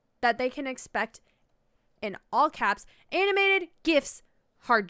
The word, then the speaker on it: GIF: in july 2016 newsweek declared its gif with a hard g and has a linguistics